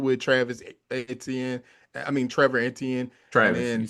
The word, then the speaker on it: Etienne: I mean, Trevor Antien, you said it right, Travis, I get him now that his brother stepped into the scene enough to trip me up.